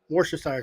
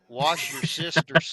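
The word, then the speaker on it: Worcestershire: had no war hey that's not the correct way to pronounce that I learned this the other day watching some cage and stuff wash your sister's sauce wash your sister this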